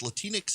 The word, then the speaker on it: Latinx: disrespect it's like latinx latinx is a which rhymes with kleenex it's a it's a